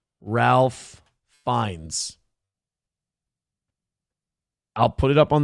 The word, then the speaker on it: Ralph Fiennes: He has confirmed this pronunciation himself noting it is a quote funky old English spelling. I'm sorry uh Roots, I I'm not trying to be fancy. It is Ralph Fiennes.